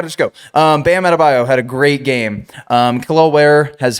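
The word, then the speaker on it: Adebayo: Even with Tyler Herro coming back and he had an incredible game last night and Bam Adabio. Bam Adabio.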